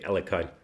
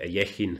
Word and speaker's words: Alekhine: I never know how to pronounce this. In English shows I say Alekhine. In German we say Alekhine. I think Svidler taught me it's closer to Alekhine.